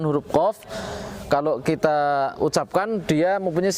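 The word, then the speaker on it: ق: Tapi di sini ada sedikit catatan tentang pengucapan huruf qaf ketika dalam kondisi kasroh. Pengucapan qaf dalam kondisi kasroh kita karena qaf tersebut isti'la tapi bukan mutbaq, maka ketika dalam kondisi kasrohnya pengucapannya tafkhimnya tidak sempurna.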